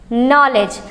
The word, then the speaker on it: knowledge: नॉलेज। अब इसमें देखो दो वर्ड साइलेंट है।